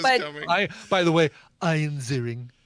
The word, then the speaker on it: Ian Ziering: Does Ian Ziering make any Sharknado references or anything?